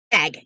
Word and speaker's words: SAG: SAG. Yes, like a saggy bag of flour.